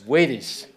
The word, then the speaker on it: Waties: Actually, I'm going to mispronounce Waties Waring. Waties.